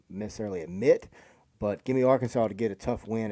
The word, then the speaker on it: Arkansas: You're on this pronouncing game. it wrong. It's Arkansas.